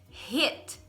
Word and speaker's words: hit: No nosso videozinho de pronúncia das consoantes. Heat. Heat. Heat. The heat. E a outra é escrito com I. Hit.